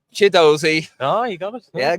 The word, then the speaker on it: Chidozie: Chidozie.